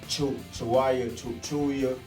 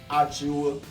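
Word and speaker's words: Achiuwa: We're going to talk about that new dude, Precious Chuya, something like that. Precious Achua. That's how you say it. You know, you got to get it right.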